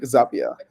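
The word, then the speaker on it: Zapier: and they were like oh just it's like happier but like Zapia.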